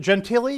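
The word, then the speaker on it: Gentile: because I can't remember is it genti yes so say Mary gentil I thought the e was pronounced okay good the Mary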